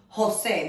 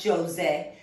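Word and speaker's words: José: spanish sounds like an ancient english so it's jose not jose jose juan alberto female names this is diana but in spanish it's pronounced diana the i in spanish sounds like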